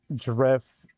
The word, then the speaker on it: Drifloon: I'm going to pronounce this correctly. Drifloon is how you correctly pronounce this one.